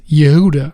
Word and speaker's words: Judah: fourth son of Jacob Judah properly pronounced Yuda son of leam Judah